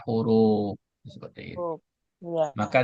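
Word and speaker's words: حروف: Jadi harfu kalau dibaca huruf itu harus ada wau di sini. Karena huruf dalam bahasa Arab itu adalah jamak dari harfu. Kalau enggak ada wunnya maka dibaca harfu. Kalau ada wunnya setelah ro dibaca huruf.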